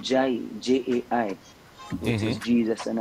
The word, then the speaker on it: Jai: so just pronounce it Jai, put an accent on the I and say Jai Yeah, Kingston.